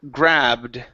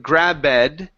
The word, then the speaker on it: grabbed: we have the word grabbed right here instead of grabed the E is silent in the Ed ending so instead of grabed